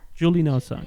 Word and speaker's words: JULINOZA: What you do with Julie Nosa, right? Am I pronouncing it right? How this JULINOZA. Julie Nosa?